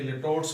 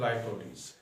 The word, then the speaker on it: litotes: पहले तो इसको ज़रा इसके प्रोनाउंसिएशन को ठीक कर लेना है। इसे लिटोट्स पढ़ते हैं पाकिस्तानी, तो ये लिटोट्स या लाइटोटीज है। IPA के मुताबिक, इंटरनेशनल फोनेटिक अथॉरिटी के मुताबिक इसका प्रोनाउंसिएशन लाइटोटीज।